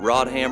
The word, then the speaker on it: Rodham: Is it a coincidence that Rodham rhymes with goddamned?